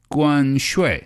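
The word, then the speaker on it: 关税: 关税. Perfect. Again, this is 关, that's the first tone. 税 is the fourth tone. So you're going 5-5-5-3, right?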